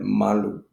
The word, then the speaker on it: malu: You look at malu. So the ah has more emphasis and the oo is almost not heard unless in the context you might know that there are there are exceptions.